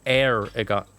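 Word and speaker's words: Eragon: Aragon is spelled E-R-A-G-O-N, by the way. It's Aragon.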